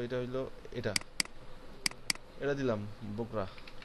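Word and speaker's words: বগুড়া: তারপর সেকেন্ড এটা, এইটা হইলো, এটা হইলো, এটা এটা দিলাম বগরা, অরিজিনাল উচ্চারণ কিন্তু বগরা, কিন্তু আমরা বলি বগরা।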